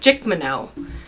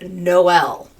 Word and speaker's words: Jkmno: And finally they found out later that it's actually pronounced Noel. Right. Because it's JKMNO, which is in the middle of the alphabet, but they skipped the L.